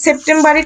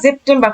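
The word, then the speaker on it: September: করতেছে যেমন এখানে দেখেন এটাকে সেপ্টেম্বারই করা উচিত না কিন্তু এখানে কিন্তু ওরা জেপটেম্বার করে ফেলছে আবার এই জায়গাতে দেখেন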